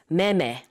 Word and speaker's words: 매매: So the pronunciation is the same. Oh, different wow. characters, oh. Different hancha, but purchasing and selling in Korean is meme.